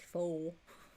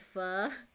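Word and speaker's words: phở: noodle Vietnamese noodle broth don't tell me you pronounce it like foe he said no I said fur yeah that's how you pronounce it fur I don't fit I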